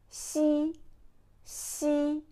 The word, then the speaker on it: xi: behind your low teeth c c not she she okay now it's your